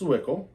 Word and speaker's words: Zwickel: This says, pronounced Zwickel, the flagship lager of our Reverence series, classically crafted, timeless European-style beers.